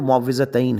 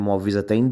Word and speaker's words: معوذتین: دوسرا یہ ہے کہ جو معوذتین ہیں، ان کا دونوں طرح تلفظ ٹھیک ہے، معوذتین بھی کہہ سکتے ہیں، معوذتین بھی کہہ سکتے